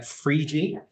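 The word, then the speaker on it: Phryge: We had Frigi, the Paralympic mascot. We also had snooze, and Frigi is spelled P-H-R-I-G-E, and snooze is spelled S-N-U-S.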